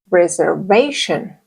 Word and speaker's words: reservation: Reservation. Be careful and do not change the shin for chin. It's sh, sh, a softer sound.